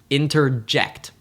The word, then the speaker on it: interject: In the word interject, we don't emphasize any syllable until the last, interject.